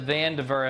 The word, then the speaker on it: Vandiver: All right, guys, absolutely beautiful place, the Vandiver.